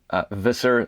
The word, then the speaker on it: Visser: WooCommerce it's made by you might pronounce that Visser labs in the United States this actually based in Australia where I come from you pronounce that Fisher labs and the plug-in has